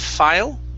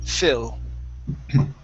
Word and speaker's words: fill: Instead of file, it's fill. Fill.